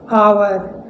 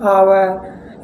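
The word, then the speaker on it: our: फॉर example है आवर, अब देखिए ओ यू आ रहा है तो इसे हम पढ़ रहे हैं आवर।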